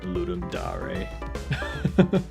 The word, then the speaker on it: Ludum Dare: So it should be it is it is pronounced ludum dare cuz of the cuz it's Latin like oh that's that's interesting.